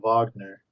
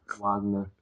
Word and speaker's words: Wagner: Richard Wagner, Yes. Wagner. as Americans would say Wagner. Kurt They Wagner. pronounce their W's like V's.